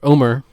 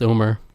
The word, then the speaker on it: Omar: we'll we'll cue omar omar i keep saying it wrong it's omar and uh he'll be